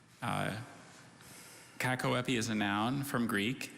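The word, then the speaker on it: cacoepy: have all the information sure kakaweppy cat koapi kakoapi uh kakoapi is a noun from greek and it means bad pronunciation you know during the bee i often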